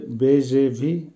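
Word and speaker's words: бежевый: বেজেভি, বেজেভির অর্থ হবে হলুদ এবং বাদামি রঙের মিশ্রণ, অর্থাৎ হলুদ এবং বাদামি রঙের মাঝামাঝি, উচ্চারণ হবে বেজেভি।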